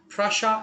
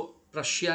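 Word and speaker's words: Prussia: ऐसे प्रशा ऐसे प्रोनाउंस करते हैं उसको, प्रशिया नहीं बोलते हम लोग।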